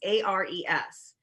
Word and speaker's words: Ares: And it's called Ares, A-R-E-S. And it's pronounced Ares as in the god of war.